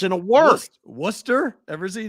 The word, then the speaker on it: Worcester: is that guy saying it don't look like it's warchester rightchester right but it's Worcester okay so don't tell me